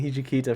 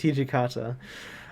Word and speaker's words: Hijikata: i've been pronouncing it someone in the comments mentioned i've been pronouncing hijikita for so long it's hijikata i'm so sorry i don't